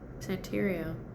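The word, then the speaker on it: Santería: Santeria, which is also like mixed with the Yoruba culture as well as Roman Catholicism call it bola.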